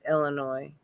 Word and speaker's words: Illinois: The S is silent. It's Illinois.